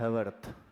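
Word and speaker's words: Haworth: इसी गड़बड़ी को सुधारने के लिए एक साइंटिस्ट हैं जिनका नाम है ह हैवर्थ। हवर्थ हवर्थ हिंदी में हवर्थ लिखा आता है। ऐसे स्पेलिंग होता है एच ए डब्ल्यू आर टी एच हवरवर्थ।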